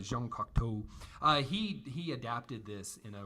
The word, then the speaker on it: Jean Cocteau: That's how you say it. I can't help myself. It looks like Cocteau, but Jean Cocteau.